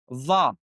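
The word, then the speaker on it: ظاء: The Zal, the Sa, and the last one, where you have to put more than the tip of your tongue out of your mouth. That is the Dha.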